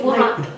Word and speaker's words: Wuhan: It's Wuhan.